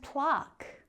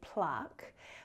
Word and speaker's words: plaque: And plaque or plaque depending on which native English speaker you're talking to. I say plaque but it's definitely not pla-que or plaque.